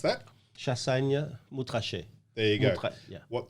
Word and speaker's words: Chassagne-Montrachet: So this is, I can't pronounce that. Chassagne-Montrachet.